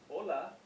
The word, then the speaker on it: hola: the h is silent so the word hola the h is silent on there h-o-l-a it's just hold